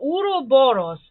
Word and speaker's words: Ouroboros: cannot pronounce this word oh is how i would pronounce it in my you know how a serbian would or uroboros is how i would pronounce that right so that's the the